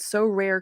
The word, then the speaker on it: Sorare: win a variety of rewards, which can include So Rare cards, tickets, merchandise, jerseys, and VIP experiences.